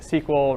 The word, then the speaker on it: SQL: deal with it is sequel relational databases so SQL I'm gonna pronounce sequel you'll get used to that and that's how most people pronounce it but you know this